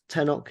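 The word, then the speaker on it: Tenoch: my strong point but I think it's tenok is how you would pronounce that uh Namo who he's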